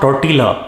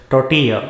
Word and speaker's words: tortilla: doing well in sports it is not tortilla or quesadilla it is tortilla or quesadilla this mexican